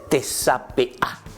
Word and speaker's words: tesapea: Eso se dice tesapea. Tesapea. Repitan un poco conmigo cómo se dice en guaraní.